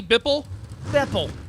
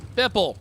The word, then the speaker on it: Beppel: Is it Jesse Bippel? Beppel. Yeah. Beppel. You got it, buddy.